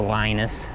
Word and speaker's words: Linus: his name is linus and in english we pronounce his name as a linus like the kid on um what is it